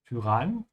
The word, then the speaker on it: Tyrann: Also pay attention to the easy word here, Tyrann, because it's pronounced a bit different than English, so you have to pronounce it with a bit of an Ü, ja?